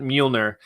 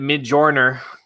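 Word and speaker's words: Mjölnir: especially good fresh scent Mjolnir. I may have pronounced it Mayjorly for about a month, but that's just who I am.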